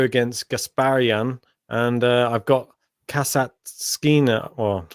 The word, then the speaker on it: Kasatkina: I've got Hercog here going through against Gasparian, and I've got Kasatkina. Well, I'll say this right. Kasatkina. There's no extra S in there that I'm adding in.